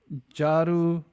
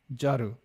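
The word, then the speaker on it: झाड़ू: Jaru mean room or does it mean to sweep or to clean? Jaru. Yeah. Jaru. But it's it's a D, but it's pronounced as a jaru.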